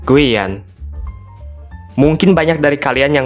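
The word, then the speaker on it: Guyane: guyana Prancis Nah kalau dalam bahasa Prancis dibacanya Guan Mungkin banyak dari kalian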